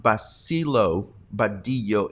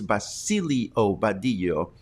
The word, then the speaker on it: Basilio Badillo: It's not Basilo Badillo, it's Basilio Badillo.